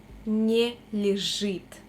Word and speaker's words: не лежит: Душа не лежит. Душа не лежит. Be very attentive because we pronounce не and лежит like one word.